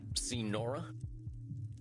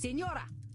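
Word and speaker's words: Señora: All right, see Nora? No, I have not seen any Nora. Who's Nora? Ignoremos. It is Senora. Senora. Well, jeez, you don't have to be so mean. Then say it properly.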